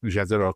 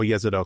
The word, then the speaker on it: Jezero: Gra in Gale and Jezero crater or Yzido crater I think it's pronounced it's also why we're